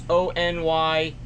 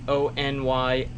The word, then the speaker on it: Onylraep: It's Onylraep, although my wife says it's Onyiraep.